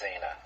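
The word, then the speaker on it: Xana: her name's pronounced Zana.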